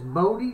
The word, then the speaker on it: Bodie: Sent me a link to how to pronounce that name, and I was doing it correctly. It's Bodie State, 6 degrees at Bodie State Historical Park and at Bridgeport, California.